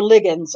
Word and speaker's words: Ligons: She said, sorry to interrupt, but Kay says it's like pronounced like fig. So fig, Ligons. So Ligons. Okay. Sorry. Okay. It's my, that's my, my grammar sneaking in. I feel like it should have been two G's if it was Ligons,